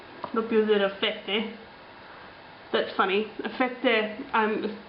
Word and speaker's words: fette: Fette, like some sort of like a hard bread, pretty much. And he's clearly supposed to be 007. Fette rhymes with sette, which 7 is.